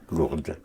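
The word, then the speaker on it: Lourdes: in the Pyrenees called Lord you know how to spell it l-o-u-r-d-e p-e-s right but you were right for the de because you heard the sound of the D yes Lord so how would you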